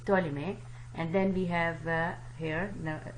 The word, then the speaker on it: Ptolemy: okay we will not P is silent so it's to a limit and then we have